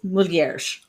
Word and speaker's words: mulheres: But like certain words, like mulher is woman, but then sometimes there's like, it's mulheres, like with a J sound at the end, and I'm like, when and why?